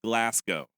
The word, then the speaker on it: Glasgow: Number one, the city of Glasgow is pronounced Glasgow.